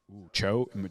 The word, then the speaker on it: Zhao: Zhao? Cho, yeah.